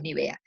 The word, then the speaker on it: Nivea: este tipo de cosas en libia a veces decimos ni bien el resto del mundo es ni vea cómo fue mi cliente